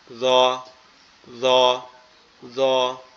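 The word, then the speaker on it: ذ: ঠিক আছে, এরপরে যেটা জ আছে, এই জটা হচ্ছে আমাদের জিহ্বার আগা সামনের দুই দাঁতের আগার সঙ্গে লাগবে, লেগে উচ্চারিত হবে জ, জ, জ, এভাবে।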